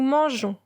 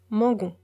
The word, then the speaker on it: mangeons: Nous mangeons. On ajoute le E pour prononcer J et non G. Sinon, on prononce mangon.